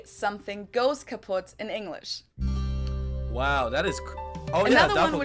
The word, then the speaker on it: kaput: moved to the us we spell it with two T's in Germany but we pronounce it the same way kaput and it basically has